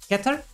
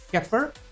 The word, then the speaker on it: Kether: Yeah, and I pronounce this as Kether. We will hear in the English dub, they will call this Kether. So with a more softer TH, because it is in there, of course.